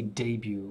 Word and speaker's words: debut: age group debut okay we say debut we say it like the French way against England and is